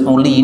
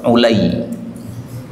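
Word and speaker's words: عُلَي: Jadi tulisannya sama, bacanya beda. Kalau Ali, ini A-nya di fathah, Ali. Kalau Ulay ini A-nya di dhammah, Ulay. Di sini tertulis Uli, ini salah nih. Mestinya apa? Ulay.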